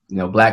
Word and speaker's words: BLXCK: So for those who don't know, Black Clothing Company is spelled BLXCK, which stands for, it's kind of like an equation.